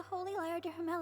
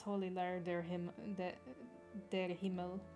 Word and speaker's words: Holy Lyre der Himmel: need to borrow the Holy Lyre de Himmel again, we cannot oblige. It's Holy Lyre der Himmel. Anytime I hear it, I will say how it should be pronounced.